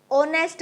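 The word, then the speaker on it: honest: एन ई एस टी अगर बात करें एच की तो एच हमारा कसोनेंट में आता है। लेकिन एच क्या है? वो हमारा साइलेंट वर्ड है। तो हम ऑनेस्ट बोलते हैं। साउंड हमारा फर्स्ट साउंड क्या प्रोनाउंस हुआ? फर्स्ट साउंड है हमारा ओ का और ओ हमारा वोवेल्स में आता है।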